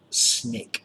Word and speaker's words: SNCC: and we get the s and CC or snick s ni ck it's pronounced but you call it the SNCC the